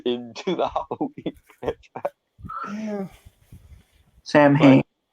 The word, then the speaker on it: Samhain: Yeah, it gets even more confusing in that it's supposed to be pronounced Samhain, but still spelled like that. Because Celtic pronunciation and all.